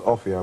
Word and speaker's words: Offiah: My name isn't actually Offiah, but it's pronounced Offiah, but, you know, that doesn't rhyme with flyer, so I think I'm stuck with a fire.